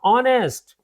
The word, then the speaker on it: honest: And now honest. So H is silent in honest right?